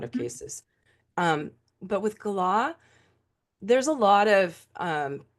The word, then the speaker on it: Gala: wife Gala correct yeah well that's how he pronounced it was Gala okay yeah I love to hate her I'm